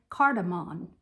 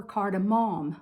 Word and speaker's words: cardamom: some all spice and cardamon or cardamom whichever way you want to pronounce it then you just mix